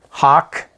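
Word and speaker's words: Hach: uh is the hawk it doesn't spell that way but that's how it's pronounced it's a hawk 5b hardness test kit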